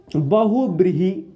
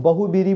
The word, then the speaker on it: बहुव्रीहि: ठीक है बहुव्रीहि समस कभी-कभी कुछ लोग उच्चारण में बोल देते हैं हम सब भी बोल देते हैं लेकिन बोलचाल में कुछ लोग बहु बीवी बोलते हैं कोई दिक्कत नहीं जो